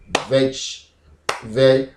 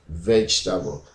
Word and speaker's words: vegetable: So here the first syllable is veg, and between the ta, the e there, vegetable, but it's very, very silent. You may not hear it.